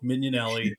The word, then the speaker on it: Mignanelli: good with names but it's pronounced like minion so minion Elli I can get it